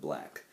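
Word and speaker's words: 6LACK: though his name is spelled six lakh you pronounce it black but um yeah my - R&B influences for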